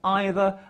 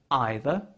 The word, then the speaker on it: either: also worth noting that both either and neither can be pronounced in two different ways either either neither neither what